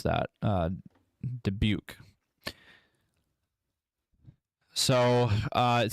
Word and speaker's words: Dubuque: Sorry, I was trying to learn how to pronounce that. Dubuque.